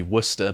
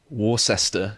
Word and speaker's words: Worcester: fake clinics in um that should be worcester but i think you pronounce it warcester in the united states massachusetts it is wrong